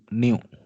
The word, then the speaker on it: nu: is new so this is pronounced as is pronounced as the greek letter greek letter nu n sorry n u new okay so this new if you just put